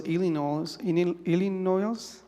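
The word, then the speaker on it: Illinois: Uh some people from Texas, other people from I think it was Ilino that's how you pronounce it.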